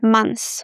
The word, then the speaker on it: months: So guys, this word could be a little challenging for some students. My recommendation is to drop the TH, months, because when we speak fast, we don't pronounce it, months.